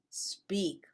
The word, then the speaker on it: speak: careful with that word do we say speak or speak we say speak why because we do not use the letter e as a help to pronounce the letter s when s is the first letter of the word i think you should